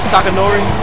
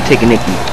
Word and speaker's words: Takanori: Can you say his name like Takanori? Takanori? Yeah, that's right. At least you got it right. Smokey calls him Ticker Nicky.